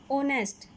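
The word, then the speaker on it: honest: ऑनेस्ट, जो first letter है इसका वो क्या है, इंग्लिश का कॉन्सोनेंट यानि कि व्यंजन लेटर है, लेकिन जब इसको प्रोनाउंस करते हैं तो क्या आया, ऑनेस्ट यानि कि वोवल आया हुआ है हिंदी का, तो इसके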